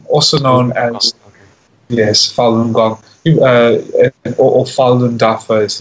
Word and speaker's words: Falun Gong: pack I see a Chinese culture discipline it's pronounced Falun Gong also known as yes Falun Gong you or Falun Dafa is the other name